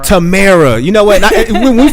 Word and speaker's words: Tamara: It's Tamara. Tamara.